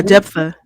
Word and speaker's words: Jephthah: and then we're going to talk about, I don't know how to say this, Jephthah, maybe. Yeah, Jephthah.